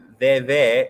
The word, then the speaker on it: Veve: Riz, the Voodoo Veve is pronounced Veve, and its symbols kind of like my profile pic, but mine doesn't mean nothing.